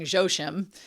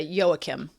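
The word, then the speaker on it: Joachim: kind and explained that yoha yakim um which I've been pronouncing josim is actually a Hebrew name so it's uh yoakim yoakim I don't know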